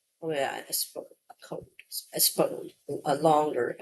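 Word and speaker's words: Espoo: It looks like Espo. Espo. It sounds a bit like Espo because it's like the O in code. So Espo. Oh yeah, Espo code.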